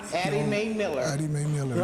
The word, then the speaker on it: Addie: Eddie Mae Miller, to be followed by Larry Ross. Por Larry Ross. Good afternoon. Buenas tardes. My name is Addie Mae Miller, and it's spelled A-double-D like David,